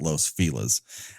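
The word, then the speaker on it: Los Feliz: of Griffith Park along Los fela's bouevard it's spelled Los fiz but everyone here in this dumbass Town call calls it Los Filas um it's the William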